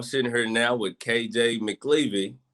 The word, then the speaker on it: McElvaney: I'm sitting here now with KJ Mcelvaney, Coach McLeavy. Am I saying it right? McVaney. Oh, McElvaney. McElvaney.